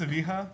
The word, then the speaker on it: Evija: Yes, Lotus Evija, right? Is that how you Oh pronounce yeah, it?